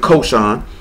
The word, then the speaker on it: khoshen: Well, they spell it C-O-C-H-O-S-E-N. You know what I'm saying? But you would pronounce it khoshen. So, what? You would pronounce it khoshen. It's spelled C-H-O-C-S-E-N. But it's not, it say that, but it's pronounced khoshen.